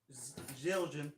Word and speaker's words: Zildjian: I might get burned for this because it's technically fucking ProMark and Zildjian. There you go. I pronounced it right too.